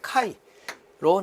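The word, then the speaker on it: χ: 자, 특히 여기 입실론 제로 곱하기 입실론 S-1을 카이로 나타낸다. 풍극율을 나타내죠. 풍극율. 자, 카이라고 발음을 합니다.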